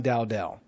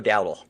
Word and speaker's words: Dowdle: Because if they want to run, they're going to run Dowdell. Is that his last? How did I spell it? Am I saying that? No, it's Rico Dowdle.